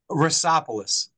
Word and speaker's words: Roussopoulos: pronounce his name I I pronounce it but tell me how you pronounce your last name ropolos but I accept I accept all pronunciations I mean it's I